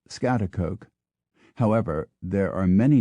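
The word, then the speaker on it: Schaghticoke: g HT c o k e New York pronounced scat Coke however there are many names that most Americans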